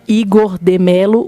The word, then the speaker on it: IgorDeMelo: Quem não conhece o trabalho do Igor ainda, dá uma olhadinha no Instagram, @IgorDeMelo, o D é mudo.